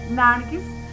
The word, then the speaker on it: nargis: Narciso deriva de la palabra persa que se pronuncia nargis que indica una planta